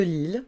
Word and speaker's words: Lille: Lille, la ville de Lille, on va dire Lille.